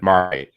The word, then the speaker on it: Marmite: When you spell Marmite, it has to be MIGHT for Marmite. Just trademark. I see. Yeah. Okay. You got it. Say it again. Just like mighty. Yeah. Marmite.